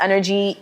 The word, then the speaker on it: N'nerjie: your name is energy and it's not just energy e n e r g y how like we usually spell it but like yours is different so talk